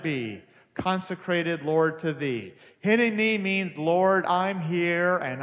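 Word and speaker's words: הנני: Here I am in Hebrew is pronounced hineni.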